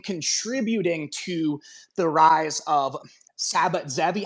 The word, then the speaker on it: Sabbatai Zevi: Is it Sabbatai Zevi. Sabbatai Zvi? Zvi, yeah. Okay, Zvi. TZVI. Sabbatai Zevi.